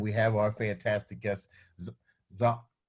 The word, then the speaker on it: Zahraa: And we have our fantastic guest, Zahraa? Zahraa, that's right.